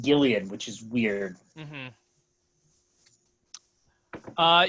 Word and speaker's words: Gillian: yeah i think it's alien right it is pronounced gillian which is weird mm-hmm uh yeah so uh